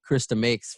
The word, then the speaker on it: Chris DeMakes: you're watching a zoom let me introduce first krista makes from uh from less than jake hello hello